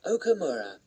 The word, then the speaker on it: Okamura: can i have your name please yes it's okamura okamura and how do you spell that please l know your family name please